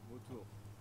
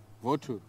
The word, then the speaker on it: vautour: Vautour. Vautour. Yeah. Vautour. How do you spell it? V-A-U-T-O-U-R. Vautour. Vautour. Vautour. There is a R at the end.